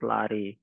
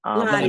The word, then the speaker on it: Lottie: Whereas, like, is it or? I don't want to mispronounce the name. Someone said, come off the mic and let us know how to pronounce your name. Yeah, it's Lottie. Lottie.